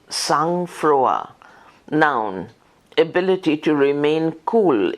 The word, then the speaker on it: sang-froid: Sange, S-A-N-G-Freud, F-R-O-I-D, উচ্চারণ, sang-froid, noun, ability to remain cool in danger or difficulty, composer, বিপদ বা অসুবিধার মধ্যে মানসিক স্থৈর্য বজায় রাখার সামর্থ্য.